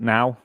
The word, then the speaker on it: NOOW: There's like 7 episodes, and they're only like 17 minutes long, coming out every Monday, called NOOW, but they pronounce it now, NOOW, and it's supposed to take the piss out of far right ideas, and it's fucking awful.